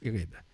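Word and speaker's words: ערב: Ça s'écrit Erev, mais ça se prononce Ereb.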